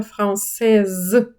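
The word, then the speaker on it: française: Це підкреслюється кінцевою приголосною, тому її треба вимовляти дуже сильно. Француз франсе, францужинка франсез, китаєць щінуа, китаянка шнуаз. Е, і в жіночому роді додається, тому німа приголосна починає озвучуватись.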